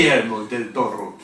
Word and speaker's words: Guillermo del Toro: Guillermo del Toro. That's absolutely perfect pronunciation.